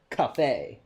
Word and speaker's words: café: Actually, in accurate Spanish, Senor Café. In Spanish, coffee is spelled C-A-F-E, café. I see.